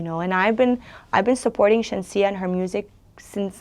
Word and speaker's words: Shenseea: The pronunciation is correct? Shenseea, yeah.